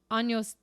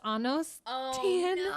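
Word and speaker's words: años: you have um and instead of asking cuantos anos tienes she said quando's annos and the girl started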